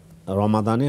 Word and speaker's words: রমাদান: রাতের নামাজ কেমন ছিল রমাদানে হোক রমাদানের বাইরে হোক তখন তিনি বলেছেন যে তিনি রমাদানে আমি রমাদান বলতেছি রমজান বললেও বলতে পারেন রমজান বললে ফার্সি প্রোনাউন্সিয়েশনে বললাম রমাদান বললে আরবি প্রোনাউন্সিয়েশনে বললাম এখানে কোন ঝামেলা নেই